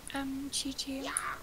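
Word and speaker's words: Qiqi: Yeah, it's pronounced Chi-Chi.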